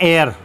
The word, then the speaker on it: heir: इसको हम पढ़ते हैं एयर। क्या पढ़ते हैं हम इसको? एयर। इसमें एच साइलेंट रहता है और इसका अर्थ होता है उत्तराधिकारी।